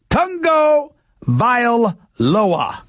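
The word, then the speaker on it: Tagovailoa: Allah's name to Otunga voila that's how he pronounces his name Tongo vile lower that's how you pronounce his name look we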